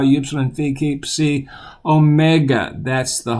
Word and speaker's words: psi: have in English it's C say it it's coming see like in the word Pepsi C as a PS sound and the uppercase and